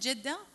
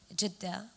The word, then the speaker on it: Jeddah: There are 3 ways to say Jeddah, or, the people of Jeddah say Jeddah, but then there's Jeddah, and there's Jeddah, and there's Jeddah. So there are 3 ways to pronounce this city.